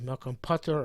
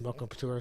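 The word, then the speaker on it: מקום פטור: The Makom P'tur, not sure if the proper pronunciation is Makom Patur or Makom P'tur, but it's always pronounced Makom P'tur, so we'll keep that pronunciation.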